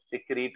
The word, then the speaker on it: secrete: Oh, by the way, you also said secrete incorrectly. Secrets. I don't know exactly what is the pronunciation. Secrete. Reet. Secrete. Reet.